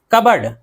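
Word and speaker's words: cupboard: कबर्ड, कबर्ड इसमें पी नहीं पढ़ेंगे, बर्तनों की अलमारी या नियमत खाना।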